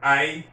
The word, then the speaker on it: hay: Listen to my pronunciation of I, because in Spanish, that H is silent. So it's just like you're pronouncing AY. ¿Qué hay de nuevo?